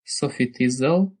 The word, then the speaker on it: SofiTizzle: And if you want to find out about her a bit more and follow her, just follow her on Twitter at Sophie Tizzle, which is spelled SOFITIZZLE.